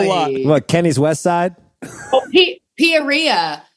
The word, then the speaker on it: Peoria: Peoria. Some person in the bar said that it's Peoria. It rhymes with gonorrhea.